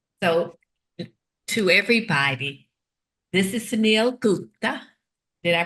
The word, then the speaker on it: Suneel Gupta: So, to everybody, this is Sunil Gupta. Did I pronounce that right?